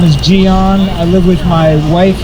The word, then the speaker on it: Gian: for everybody to pronounce not Gianna spelled g-i-a-n some people who gotta